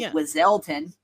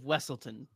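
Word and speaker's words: Weselton: He's not the Duke of Wizelton. The Duke of Wessleton. Wessleton.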